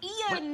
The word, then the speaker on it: Ian: And we're like, no, it's two syllables, Ian.